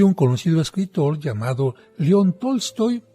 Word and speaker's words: Tolstoy: Es de un conocido escritor llamado León Tolstoy, o bien, como algunos pronuncian, Tolstoy.